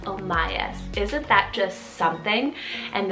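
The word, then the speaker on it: Omias: side an o name here is the name omayas spell o m i a s omayas isn't that just something and this one means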